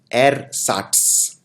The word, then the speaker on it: ersatz: इसके लिए इनफैक्ट एक और शब्द यूज होता है नकली के लिए, जिसको बोलते हैं एरसाट्स। ये थोड़ा सा डिफिकल्ट शब्द है प्रोनाउंस करना, एरसाट्स, ERSATZ।